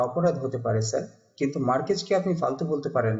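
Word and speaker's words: Márquez: মার্কেজের একটা বই sir. Market? না স্যার, মার্কেট না, মার্কেজ।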